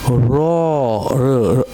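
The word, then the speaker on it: ر: Ra, r sound, ra, like root, okay? Ra, like a robot.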